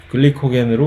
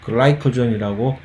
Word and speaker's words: 글리코겐: 글리코겐이라고 하는 글리코겐으로 그냥 한국말로 발음을 통일을 하겠습니다. 개인적으로는 계속 글라이코전이라고 좀 더 널리 전 세계적으로 통용되는 발음을 사용을 하고 싶기는 하나 그렇게 되면 괜히 내가 이상한 본의 아니게 이상한 사람으로 여겨지는 의문의 일패를 당하게 될까봐 그냥 글리코겐으로 허벅지 찌르면서 통일을 하겠습니다.